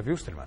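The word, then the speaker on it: Wilstermann: tudo aqui gente mas a pronúncia é correta essa mesmo é Vilma é Vilma porque é alemão alemão não é inglês é que é maninha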